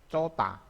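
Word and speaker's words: 좋다: Jika ketemu dengan H, ini contohnya kayak gini, ini cohda, cohda dibacanya cota, cota.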